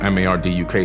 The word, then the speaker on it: Marduk: After the Great Flood, Amun-Ra, aka Marduk, he's known as Marduk in the Bible, M-A-R-D-U-K, some people say Marduk, depending on how you want to pronounce his name.